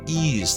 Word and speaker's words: Ys: to be silly yep ease the only pronunciation that makes sense it is not wise to mispronounce in um at